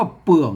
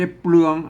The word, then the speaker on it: เปลือก: งู เห็น มั้ย อ่า ตัว นี้ อ่าน ว่า เปลือก นะ ครับ ไม่ ใช่ เปลือง ไม่ ใช่ เปลือง นะ ครับ อ่า ไม่ ใช่ เปลือง